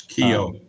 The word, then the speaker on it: Keogh: How do you pronounce that, by the way? I don't even know. It's Keogh.